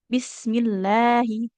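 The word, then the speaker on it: بسم الله: Tapi kalau huruf sebelumnya berharokat kasroh kayak di lafadz basmalah ya. Bismillahi. Kan itu ada lafadz Allahnya ya. Tapi karena huruf sebelumnya mim berharokat kasroh jadi dibacanya tipis.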